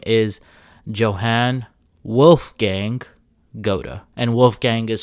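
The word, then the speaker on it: Goethe: and his name was Goa at least his last name was and you don't pronounce it the way that you spell it like I'm pronouncing it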